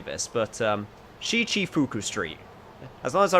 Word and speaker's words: Shichifuku: Kyushu Star #1 and the Popo on Shishifuku Street. Okay, I need to learn how to say this properly. Shichifuku Street. Shichifuku Street. There we go. Only took me like 4 games to get it right.